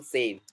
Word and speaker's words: save: sort of punctuation marks, if E is coming alone, that E will be completely silent. For example, save. Do we have anything on the E? E के ऊपर कुछ है क्या? No, sir. It is silent.